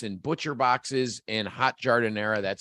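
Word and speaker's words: giardiniera: and sandwich kits and butcher boxes and hot jardin era that's how you say it the famous chicago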